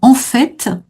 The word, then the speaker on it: en fait: Alors en fait, il y a les deux prononciations qui existent. On peut dire en fait, mais c'est vraiment une prononciation très minoritaire. La plupart des gens en France prononcent le T final, en fait. En fait. Alors, c'est Mhm. pas une erreur de dire en fait, hein. Certes, les dictionnaires acceptent cette prononciation, mais elle est vraiment très minoritaire.